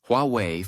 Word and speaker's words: Huawei: When pronounced in Chinese, Huawei phonetically resembles Yahweh, a name attributed to God in the Judeo-Christian tradition.